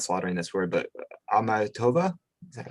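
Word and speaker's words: Akhmatova: Could you speak a little bit about why Mayakovsky and," I hope I'm not slaughtering this word, but "Amatova?" Is that how you pronounce it?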